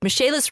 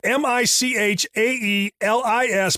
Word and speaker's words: Michaelis: Michaelis rebuilt a roof over our sunroom and a